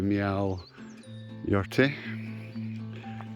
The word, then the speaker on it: Meall Ghaordaidh: you've got access to meow your tea I know it doesn't read like that but it's how it's pronounced roughly and we're gonna follow